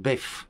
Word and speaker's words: boeuf: In my family it necessarily involved a boeuf salad, pronounced bef that needed to have